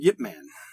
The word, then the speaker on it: Ip Man: a gem of a martial arts movie called yet man it's very good yeah it's how you really pronounce his name huh it was very good